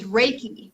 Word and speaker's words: Reiki: It's Reiki. So think of Reiki. like raking leaves and Reiki.